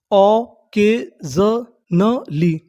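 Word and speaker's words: occasionally: O double C ए ओ के एस आई ओ एन। इसे पढ़ना हमें ज़न। क्या पढ़ना है? जनन। तो इतनी मीनिंग ओ के ज़न। और आगे क्या है? A double L वाई। इसे क्या पढ़ेंगे? नली। तो हमारी पूरी मीनिंग क्या बनी? ऑकेजनली ऑकेजनली ऑकेजनली ऑकेजनली का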